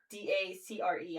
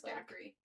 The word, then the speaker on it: Dacre: It It's spelled D A C R E. I was calling him Dackery for the longest time. I thought it was Dackery. It's Dacre.